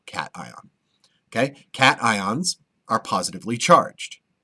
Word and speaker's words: cation: pronounced C it's pronounced Caton like meow cat ion okay cat ions are